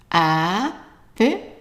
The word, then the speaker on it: après: And the R, you can pronounce it as an R, which is like the gargling sound, R, or as an R. And that's actually how they pronounce it in many countries in Africa and also in some parts in the south of France. So if you say après, that's fine. The best one would be après.